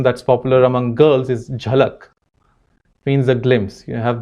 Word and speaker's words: Jhalak: In Maharashtra and Gujarat, a name that's popular among girls is Jhalak. Means a glimpse. You have this show called Jhalak Dikhla Ja, a dance show, right? So, but it's spelled Z-A-L-A-K by many people, Zalak.